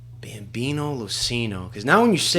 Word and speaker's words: LoCigno: It's LoCigno. The G is silent.